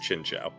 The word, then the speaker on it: Chinchou: No, it's literally pronounced Chinchou. Oh. Like that's its actual official pronunciation. That is dumb. Like in the anime, in like Pokedex 3D, it's always Chinchou.